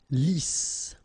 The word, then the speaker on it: lisse: Double S here, so it's really a strong S. Lisse. Okay, don't insist on the final E. Lisse.